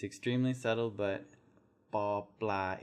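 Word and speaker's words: ป ปลา: It's extremely subtle, but ba blah is a hard B. It's not a P, paw. It's not a P. It's not aspirated.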